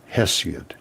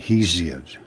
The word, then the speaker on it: Hesiod: So they went to Mount Helicon, and they talked to Hesiod. Some of them pronounce it Hesiod. It's Hesiod.